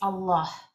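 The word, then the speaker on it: الله: No se dice Alá, se dice Allah. Y honestamente no es ninguna de las dos, es Allah.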